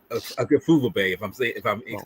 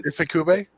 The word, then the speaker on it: Ifukube: Tsuburaya, and Akifubebe, Akira Akifubebe. I don't want to butcher these people's names because they're too valiant to be butchering their names, and I don't want to. Ifukube?